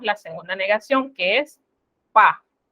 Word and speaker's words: pas: Ahora, en el lenguaje hablado, usted puede notar que la S no la pronunciamos.